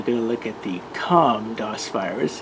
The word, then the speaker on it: c0m: viral rewind we're going to look at the comm dos virus it's also known as c 0